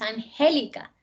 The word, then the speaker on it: Angélica: Es Angélica, ¿verdad?